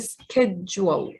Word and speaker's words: schedule: ال CH هنا بيتنطقوا ك فبقول schedule وال DULE دول بيتنطقوا جوال schedule.